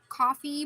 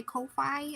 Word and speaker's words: Ko-fi: sale on my Kofi I think it's probably pronounced coffee but I'm going to say Kofi I don't care God himself could come down and say it's coffee and I would still call it Kofi just like how Twitter